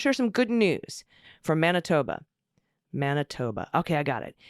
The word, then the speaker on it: Manitoba: I want to share some good news from Manitoba. Manitoba. Okay, I got it. Yes, we are pronouncing the I as an A, Manitoba, because it makes sense somehow.